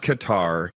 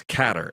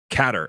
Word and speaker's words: Qatar: of the bag now it's not Qatar it's catter and our CEO Li zhenge informed me of that he's been there when did you realize that it's pronounced catter and are we going